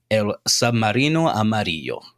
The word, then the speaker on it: El Submarino Amarillo: And you are in El Submarino Amarillo.